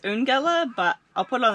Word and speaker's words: Eungella: just pulled up to young gala damn we've been told that's how you say it i would have pronounced it as un gela but i'll put it